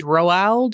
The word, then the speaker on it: Roald: It's like Ronald without an N. Right. It's Roald Dahl.